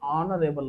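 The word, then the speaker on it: honourable: ಅನ್ನೋದು ಏನ ಕಾನ್ಸೋನೆಂಟ್ಸ್ ವ್ಯಂಜನ ಬಟ್ ಇದನ್ನ ಉಚ್ಚಾರ ಮಾಡುರೇಬಲ್ ಅನ್ನಂಗಿಲ್ಲ ನೀವು ಏನಂತ ಹೇಳ್ತೀರಿ ಆನರೇಬಲ್ ಅಂತ ಏನ ಕರೀತೀರಿ ಆನರೇಬಲ್ ಅಂತಕಂತದ್ದು ಏನಾಗ್ತದ ಓವೆಲ್ ಆಗ್ತದ ಅನ್ನೋದು ಏನಾಗ್ತದ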